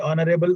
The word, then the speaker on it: honorable: Note the following words begin with a silent H and they are especially words like R, arly air, Harris, honor, honorable, honest, honestly. They must be pronounced as though there were no H at the beginning. As I already told you,